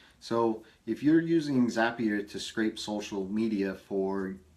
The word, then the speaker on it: Zapier: In video 11, I talked about having Zapier's happier. That's how you pronounce it, folks. I talked about how you can use Zapier to scrape social media,